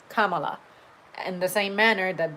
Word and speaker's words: Kamala: vice presidential pick formally, and he went with Kamala. I said, "Oh, now that this other guy taught me how the name is pronounced by correcting this fool, now I actually